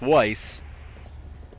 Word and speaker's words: Weiss: Johnson Rees he nobody no one's able to say my name right it's Weiss no sweetie I wasn't